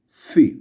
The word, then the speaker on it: phi: And the next is phi, which sounds like phi in phone.